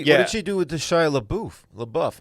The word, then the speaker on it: LaBeouf: do with the Shia Labeouf? How do you say it? Labeouf? No, you were right. It's Apparently, LaBeouf.